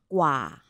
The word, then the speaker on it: กว่า: กว่า. กว่า. It's a long R, yeah? ค่ะ.